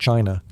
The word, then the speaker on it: qi: In ancient China, health was never just about flesh and bone. It was about energy. The invisible, vital force called qi, pronounced chi, flowed through every living